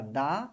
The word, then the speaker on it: the: মানে দা এর উচ্চারণ দুই রকম হয়। একটা দা এবং একটা দি।